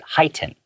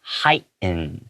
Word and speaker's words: heighten: people might pronounce it heighten. Okay, but as a native English speaker, I tend to swallow that T sound and make it silent. So I go heighten, heighten.